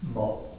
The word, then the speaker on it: 無: This is the Cantonese pronunciation. 趙州和尚因爭問，九此還有佛性也無，周云無。 So, yao, mo. Sounds a little bit more like the English yes, no.